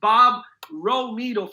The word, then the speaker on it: Romito: That's pronounced Bob Romito from Beverly Hills, California.